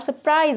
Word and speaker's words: surprise: उसका वजह भी है, बोलते हैं तो थोड़ा सा साइलेंट मोड में चला जाता है और सरप्राइज बोलते हैं तो आर दिखता ही नहीं है, मतलब कि हमारे मुंह से निकलता ही नहीं है।